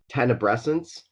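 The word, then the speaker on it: tenebrescence: I saw here is I think it's pronounced tena Bresson's and it's a it's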